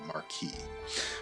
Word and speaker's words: marquis: i pronounce marquee it is marquee and oh so m-a-r-q-u-i-s is marquee if you add the e on the end m-a-r-q-u-i-s-e it's marquise interesting i did not know that the marquee okay that's uh that's